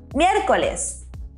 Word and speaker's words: miércoles: Miércoles. Did you notice we have an accent there at the E? It's very important to emphasize the E. So it's miércoles.